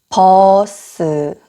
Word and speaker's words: 버스: 그 다음은 버스. 버스가 영어로는 bus 해서 이름절이죠. 근데 한국어로는 버스 해서 두 이음절이에요. 또 심지어 버가 약간 퍼로 들리기도 하는 것 같아요.